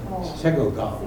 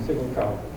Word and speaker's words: Siggelkow: If you use GPS, they announce it Sigelco. I mean Sigelco. Oh. Huh. I think I knew Lyle Stiglcow, that's how he said it? a year younger in school. Oh, yeah, Everybody called him Stiglcow.